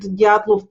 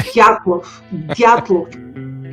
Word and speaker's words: Dyatlov: So that's how I heard Dyatlov Pass for the first time.